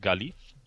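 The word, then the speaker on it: Gaillimh: So my number plate on my car, for example, says Gailim, which is pronounced Galif.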